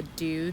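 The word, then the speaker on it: Doux: So what you're seeing here is me using the Dew texture foam. It's spelled D-O-U-X texture foam.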